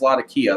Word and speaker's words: Latakia: Latakia, depending on how you want to pronounce it, it is Latakia though.